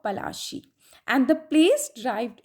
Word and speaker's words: Plassey: Plassey is an anglicized pronunciation of Palashi, and the place derived its name from the Palash tree, known for its beautiful red flowers that yield gulal.